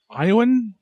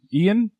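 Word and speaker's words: Ioan: Starring, is it Iowan? How do you pronounce the name? Ian?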